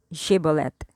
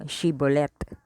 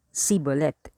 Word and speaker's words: Shibboleth: Yung mga taga-Efraim, hindi nila mabigkas na maayos yung Shibboleth. Ang bigkas nila ay Sibolet.